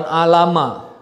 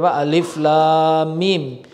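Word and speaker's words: الم: mengetahui audzubillahiminasyaitonirojim Bismillahirohmanirohim alif.lam.mim jadi bacanya bukan alamat lebih alif.lam.mim ini mau potong artinya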